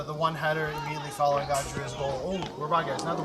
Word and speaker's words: Adria: one header immediately following Adria's goal oh we're guys another one here so it is pronounced Adria not Adria Adria I Adria so I'm I